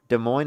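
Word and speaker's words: Des Moines: De Moine is how you say it.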